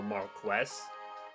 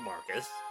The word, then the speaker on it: Marcus: Well, she knows the correct pronunciation of Marcus, which is more Marquess.